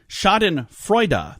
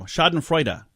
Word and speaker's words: Schadenfreude: Schadenfreude. There we go. Schadenfreude. Schadenfreude. Try to use that in a sentence, Heidi. I have no idea what it even means. Should we see what it means first? Schadenfreude is a noun.